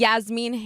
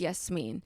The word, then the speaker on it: Yasmine: me saying that and Yasmeen when my name is yes yes and now when people say my name wrong I'm like actually it's yes mean and I think for